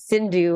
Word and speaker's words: Cindu: actually and you know my name is Sindhu and it rhymes with Hindu so there was a